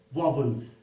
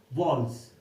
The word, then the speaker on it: vowels: वॉल्स, हम इनको वॉवल्स, बहुत सारे लोग इसको प्रोनाउंस करते हैं वॉवल्स. ये वॉवल्स नहीं है, इसका करेक्ट प्रोनाउंसिएशन है वॉल्स.